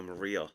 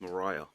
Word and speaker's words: Mariah: I actually just saw the email where she said it's not I've been calling her Maria, but it's Mariah. Like Mariah Carey, which actually makes sense because it's spelt like that.